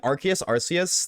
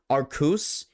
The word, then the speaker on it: Arceus: They changed Arceus because R sounded like arse, which is the British way of saying ass.